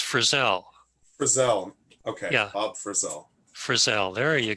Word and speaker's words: Frissell: no how are you pronouncing it Frizzle I know that's that's it's that's that's a common mispronunciation but it's Frizzell okay for sale there you go yeah okay